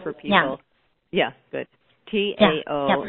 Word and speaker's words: Tao: T-A-O Academy, Tao, or Tao, but it's also Tao Academy, yes.